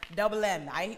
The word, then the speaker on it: DVBLM: DVBLM is still pronounced double M.